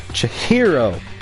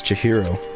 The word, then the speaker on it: Chihiro: Chihiro! That's how you say it. I always get so embarrassed introducing myself. That voice, the tone and everything. It's Chihiro.